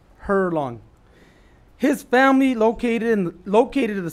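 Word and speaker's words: Herlong: Howard was born in a small town in Northern California called Hurlong. Did I pronounce that right? Yes, sir, you did. And it's spelled just how it sounds. Is that correct? Hurlong.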